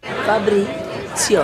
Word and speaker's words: Fabrizio: the floor and Fabrizio teaches Helga how to pronounce his name. Fabrizio.